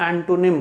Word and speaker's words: antonym: तो इसको कई लोग एंटोनिम बोलते हैं, एंटोनिम। इसका सही प्रोनाउंसिएशन है एंटोनिम, एंटोनिम, ना कि एंटोनिम, एंटोनिम।